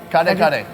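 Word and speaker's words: kare-kare: Kare kare? Can you tell it again? Kare kare.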